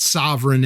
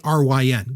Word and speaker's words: Sovryn: It's not sovereign as in like sovereignty, but it's Sovryn, which, by the way, like I'm, other than Brian Sovryn and Ellen Sovryn, like we're the only people with that name.